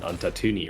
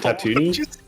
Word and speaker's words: Tatooine: a meme, but like, they're the people on Tatooine, right? Are those the Jawas? Tatooine? Whatever, however you say it. Wait, what did you say? Did you say tortellini? Is it Tatooine?